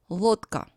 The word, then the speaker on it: Лодка: Лодка. The voiced D stands before a voiceless K. So when pronouncing this word, D becomes the voiceless T.